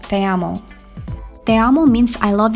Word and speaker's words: te amo: pronounced Gmail address as demo but then Nina made a correction she said it was Spanish so it's pronounced te amo te amo means I